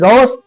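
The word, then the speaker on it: Gauss: English नाम पढ़ने में थोड़ा उच्चारण अलग-अलग हो सकता है। किसी किसी किताबों में गस या गाउस दोनों मिलता है। तो ये दोनों एक ही चीज है।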